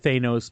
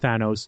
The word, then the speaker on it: Thanos: I always said Thanos, but I've been corrected and said it's pronounced Thanos.